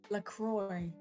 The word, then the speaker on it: LaCroix: that actually their tagline lacroix rhymes with joy mccoy what's happening anything olive